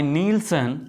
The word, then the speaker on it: Neelsen: So Jadon stain is a differential staining technique first developed by zeal and later modified by नीलसन। Hence this method is called zeal and नीलसन stand. जिसे spelling नहीं पता है वो देख लें, ZIEHL जील।